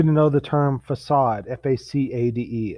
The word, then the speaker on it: facade: know the term facade f-a-c-a-d-e it looks like it says fake-aid but it's pronounced facade and that's the front